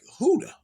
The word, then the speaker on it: Judah: In Spanish, the J sound is pronounced like an H. So Judah or Yehuda naturally sounds like Hoodah.